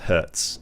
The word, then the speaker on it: Herc: Names like Herc are pronounced Hertz.